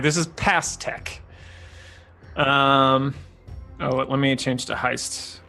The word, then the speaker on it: Pastek: I'm gonna say it's spelled Pastek. Of course it is. All right. So Past Tech.